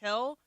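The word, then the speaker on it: Gil: Heel.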